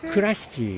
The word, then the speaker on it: Kurashiki: We landed in Tokyo, and we're going to, I don't know how to say it properly, but is it Kurashiki? Kurashiki.